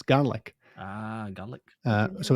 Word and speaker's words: Gaelic: supposed to pronounce it gaelic or garlic i'm always being told off by my scottish mum how do you pronounce it it you should pronounce it like the word garlic but without the r garlic garlic yeah that's